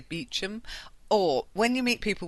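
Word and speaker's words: Beauchamp: Uh it looks like Bamp. Um B E A U C H A M P. But I think if you meet somebody you'd say Beum or when you meet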